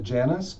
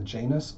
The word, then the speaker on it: Janus: I'm calling it the Janus spread, or the Janus spread, depending on how you want to pronounce it. I usually say Janus.